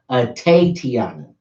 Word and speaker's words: Atatiana: type in at a Tiana her name is pronounced at a Tiana that's filled 88 TI a in a Jefferson je FF er som at a Tiana her loved ones and friends call her tape